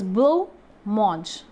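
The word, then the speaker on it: blancmange: Actually, the spelling of this word is written blanc-mange, right? But the pronunciation of this dish, actually, this is a dish which is made by dessert and corn flour. Or this is a drink actually, and the pronunciation is blanc-mange, blanc-mange, blanc-mange, right?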